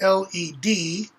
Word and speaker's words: lead: and it's spelled p-l-e-a-d just like plead is lead and lead are different lead is led the l-e-a-d as in i led my dog somewhere the l-e-a-d is the metal or present tense okay um